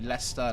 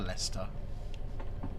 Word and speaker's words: Leicester: as we approach Lester Lester I can say it properly Lester leester David Lang hello am